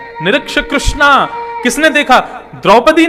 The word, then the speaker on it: कृष्ण: इसीलिए कृष्ण शब्द का जो लोग कृष्णा उच्चारण करते हैं वे सावधान रहें, क्योंकि यदि मुक्ति मिलेगी तो वैकुंठ में द्रौपदी आपका स्वागत करेंगी। आइए, आपने मेरा खूब भजन किया। आप कहोगे द्रौपदी जी हमने आपका नहीं, हमने तो भगवान का किया था। बोले नहीं, आप हरे कृष्णा बोलते थे ना, कृष्णा तो मेरा नाम है, भगवान का नाम कृष्ण है।